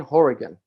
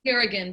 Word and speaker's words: Hourigan: an author called Ryan Horrigan. I hope I am pronouncing that last name correctly. It's pronounced Harrigan, but that's fine. Harrigan, great.